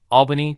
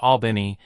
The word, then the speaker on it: Albany: cost you number 10 Albany Georgia the residents of Albany would like you to know one thing their city is pronounced Albany not Alban like that Yankee City up north once you get past